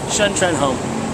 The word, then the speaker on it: Shun Trenholm: w thany what's your name Shan Tren home can you spell that s h u n t r e